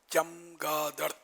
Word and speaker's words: چمگادڑ: اس کا تلفظ چے پر زبر چمگادڑ.